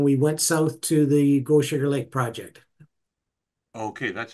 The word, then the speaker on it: Gochager: So at the moment, we've moved from Albert Lake, and then we went south to the Gochager Lake Project.